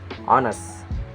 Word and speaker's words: honest: And sometimes it's not pronounced on at the start of words, like honest and hour.